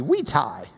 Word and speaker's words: vitae: U curriculum vitae or if we were pronouncing in Latin it B we tie because there these were WS but that's basically your